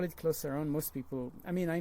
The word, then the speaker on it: Clos Saron: a French word so it sort of leans towards the French pronunciation so closer own makes more sense so we call it closer own most people I mean